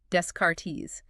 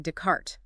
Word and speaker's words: Descartes: But then they go to France or listen to a lecture and everyone's saying Dart. The S and T are silent.